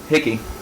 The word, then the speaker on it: Hickey: Hickey. Huh. Yeah. It rhymes with Dickey.